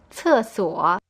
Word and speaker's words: 厕所: The word for toilet is 厕所. You probably noticed that C in pinyin is pronounced a little differently than in English. The sound is c, just like the TS in the English word cat.